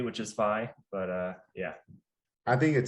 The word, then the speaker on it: Feigh: It's Feigh.